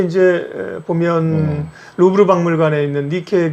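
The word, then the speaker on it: Nike: 나이키는 뭐 알고 계시겠지만 그 그리스의 승리의 여신 니케잖아요. 니케의 예. 영어식 발음입니다. 이게. 요게 이제 보면 루브르 박물관에 있는 니케 그 여신상이라고 네.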